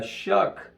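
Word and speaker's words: Shough: then he can kick it that far uh shook the quarterback their quarterback Tyler it's spelled Xiao but it's pronounced shuck he spread the ball around in that Wyoming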